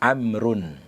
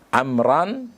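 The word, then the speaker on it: عمرًا: Tidak boleh kita membaca nasartu amrun. Kenapa? Karena maf'ul bi ini isim yang dinasab. Berarti isim yang dinasab ketika dari isim mufrad maka ditandai dengan fathah. Maka bacanya di situ adalah nasartu amran.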